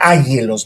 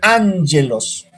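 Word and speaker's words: ἄγγελος: Pero en griego es, ¿no es cierto?, son dos guíes, pero no se pronuncia ángelos, no.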